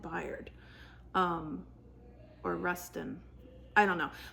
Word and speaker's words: Bayard: So, or Bayard, I guess it's pronounced Bayard.